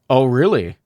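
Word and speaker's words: Orly: Oh, really? It's pronounced Oh, really? Chat. Want to know something else? I'm not really Russian and my last name sounds like Oh, really?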